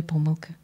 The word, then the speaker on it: помилки: всеукраїнський диктант без жодної помилки? Помилки, як правильно? До речі, правильно, наскільки я знаю, правильно наголошувати і так, це слово має подвійний наголос.